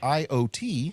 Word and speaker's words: IoT: The article is titled "Intelligent Classrooms: How AI and IoT (pronounced IOT) can reshape learning spaces."